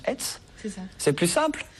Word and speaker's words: ETHS: Alors, j'ai dit ETHS en présentation, et on prononce ETS.